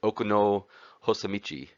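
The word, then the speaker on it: 奥の細道: can see here which would have been originally uh pronounced in the japanese language okuno hosamichi which roughly does translate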